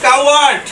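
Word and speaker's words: coward: যেমন হচ্ছে COW, কাউ, WARD। এটা হচ্ছে কাওয়ার্ড।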